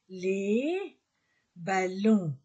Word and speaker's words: les ballons: le ballon au pluriel les ballons on ne prononce pas le S le père le père